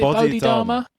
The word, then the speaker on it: Bodhidharma: Is it Bodhidharma?